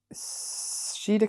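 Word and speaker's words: sídhe: I don't think cida shided and now I shed can be pronounced in several ways in modern Ireland we usually say she as in banshee which means a fair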